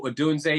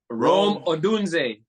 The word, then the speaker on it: Odunze: I know Odunze is still out there.